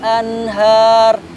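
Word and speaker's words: أنهار: Nun mati menghadapi ha itu izhar, tidak boleh ditahan tetapi harus diwasalkan dan tidak boleh didengungkan ya. Cara membacanya adalah anhar.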